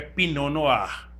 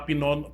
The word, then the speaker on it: pinot noir: falando de tinto é pinoar né se escreve pinot noir mas não vai falar pinoti pinotti no ir porque a índia pinoar